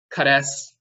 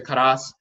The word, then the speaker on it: krst: sure about the vocalization, but krst, some people say karast, to wrap a dead body in cloth and to make it ready for burial.